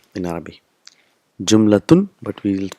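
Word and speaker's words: جملة: Sentence is called jumla in Arabic. Jumlatun, but we will pronounce it jumla. So last letter is not pronounced.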